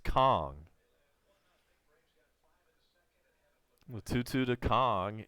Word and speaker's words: Kang: apparently I'm mispronouncing it it's not Kang ka ng it is pronounced Kong with two two two